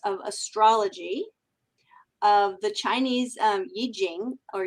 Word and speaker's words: Yi Jing: astrology, of the Chinese Yi Jing, or you sometimes hear it pronounced I Ching, because that's how it looks like it's written. I believe the correct pronunciation, if we care, is Yi Jing.